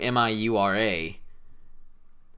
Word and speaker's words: Miura: you say that name m-i-u-r-a miura so i was right awesome but i kept pronouncing it like for the video i'd be like mia that yeah i had